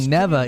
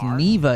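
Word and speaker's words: Neva: know I don't know why they keep saying neeva it's pronounced Nea in the game balers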